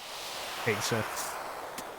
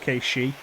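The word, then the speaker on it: Cait Sith: and Demon Gate with Kate Sith. Yeah, Scottish because of folklore. It's actually pronounced Kate-She.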